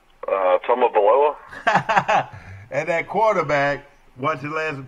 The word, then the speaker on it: Tagovailoa: How do you pronounce that last name? Tagovailoa.